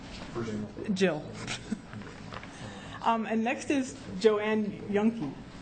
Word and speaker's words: Juhnke: And next is Joanne Yunke. Yes, and that's spelled Juhnke.